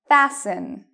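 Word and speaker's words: fasten: Fassen. Fassen. Okay. Last one. Moissen. Moissen. So even though you see T-E-N, T-L-E, T-E-N, you do not pronounce the T in these words.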